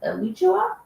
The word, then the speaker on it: Alachua: Is it Alachua?